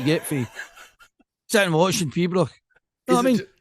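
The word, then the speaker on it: piobaireachd: First thing in the morning, I went to watch Peebrach.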